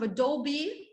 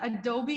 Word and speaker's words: Adobe: clients up-to-date knowledge of adobe did you guys know that adobe in english is pronounced as adobe not adobe okay adobe adobe photoshop illustrator